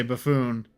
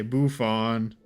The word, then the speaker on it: buffoon: That's certainly a way to say buffoon. You say buffon. Not how you pronounce that.